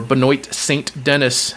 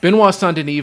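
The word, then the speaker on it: Benoît Saint-Denis: a star, you got Benois Sandeni or Benoy St. Dennis as people that don't know how to pronounce French names would say, going against Mauricio Ruffy as us Americans would say, Mauricio Hufi, right?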